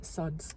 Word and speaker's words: SUDC: to raise awareness on the SUDS, which is how you say it, even though it's spelled with the C at the end and no the S.